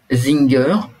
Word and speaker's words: Singer: c'est l'inégalable Isaac bachvis Zinger ça s'écrit singer comme les machines à coudre et prix Nobel 1978